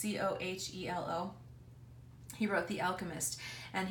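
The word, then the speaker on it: Coelho: It's Cohelo.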